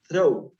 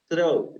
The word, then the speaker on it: throw: In this part, you are going to sound is throw. The sound is like a zeta in Spanish. Okay, throw.